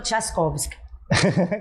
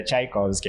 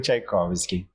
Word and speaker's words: Tchaikovsky: Thaskovsk. Quase, quase, Nat. Então me ajude. Como é Tikovski, né? É um pouquinho difícil a pronúncia, mas é Tchaikovski. É Tikovski.